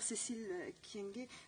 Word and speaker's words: Cécile Kyenge: Et je dirais que, chère Cécile Kyenge, vous êtes, je prononce bien votre nom?